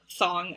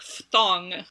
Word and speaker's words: phthong: guess in like so like thong in ancient greek would be more like patong which even people who study ancient greek don't actually pronounce things that way because as english speakers it's really hard for us anyway so that's don't